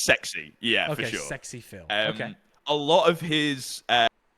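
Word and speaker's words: SxePhil: e Phil Su is is this supposed to be pronounced like Sexy Phil it's sexy yeah for sure Sexy Phil a lot of his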